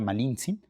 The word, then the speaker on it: Malintzin: Yasna de Aguilar, que lo más justo es referirse a ella en Nawatl, que es finalmente el nombre mesoamericano que tuvo, ¿no? Y era una mujer mesoamericana. Entonces, yo creo que lo más correcto es llamarla Malincin.